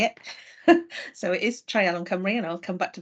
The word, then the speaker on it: Treialon Cymru: So it is Treialon Cymru, and I'll come back to that in a minute.